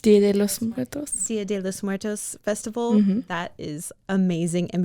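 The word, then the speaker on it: Día de los Muertos: And it's from the how do you pronounce Dia de los Muertos? Dia de los Muertos festival.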